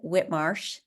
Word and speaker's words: White Marsh: is in whtm and it's spelled White Marsh but they pronounce it Whit Marsh Island and if we select